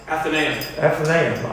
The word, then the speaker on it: Athenaeum: In Boston, in Massachusetts, how do you pronounce Athenaeum? Do I have it right? Athenaeum.